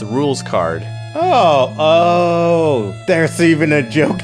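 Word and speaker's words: Rouxls Kaard: If you look at his name and pronounce it in French, it's rules card.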